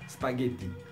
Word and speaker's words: spaghetti: c'est vraiment facile spaghetti s'il n'y avait pas le H vous devriez dire c'est pas déjà mais il y a un H donc vous prononcez spaghetti autre exemple l'eau scale